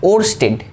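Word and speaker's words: Ørsted: নামটা স্পেলিং ঠিক আছে, মানে স্পেলিং কি নামটা ঠিকঠাক উচ্চারণ করছি তো? হ্যাঁ, ওরস্টেড।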